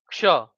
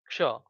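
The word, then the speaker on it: ક્ષ: Okay, so the very next is ksha. The very next is ksha. Now let me show you how to write ksha. Okay, so this is ksha. Okay, ksha. K S H A or X A.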